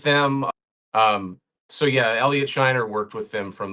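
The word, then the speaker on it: Scheiner: was remastered by longtime to collaborator El Elliot Shiner, I think you pronounce his name. Shiner.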